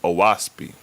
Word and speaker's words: Oahspe: The first thing to address is that it's pronounced Oahspe, and the name Oahspe signifies and means sky, earth, and spirit. O equals sky, Ah equal earth, and Spe equals spirit, which stems from the